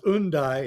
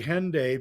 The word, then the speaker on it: Hendaye: say it differently right well it's undai in French but uh I like to say Henday because um I think it was because if if you if you know you're a British form of pronunciation you drop the H at the beginning of the word herb is Herb uh